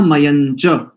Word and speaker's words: मयंच: यहां पर संसृजे था मयंच, मयंच, मयम नहीं करेंगे, मां नहीं करेंगे, या के ऊपर जो अनुस्वार है ना अंक बिंदु, उसको मां उच्चारण नहीं करेंगे, अशुद्ध है।